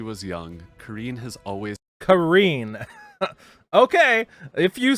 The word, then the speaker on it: Karin: up with pronunciations so I thought it was Corrine or Karen at first and then something came out and called it Corrine and now it's Karine so she was her